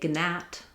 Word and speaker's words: gnat: We no longer say gnat or gnaw. Gn being difficult to pronounce, the g sound dropped out of our speech.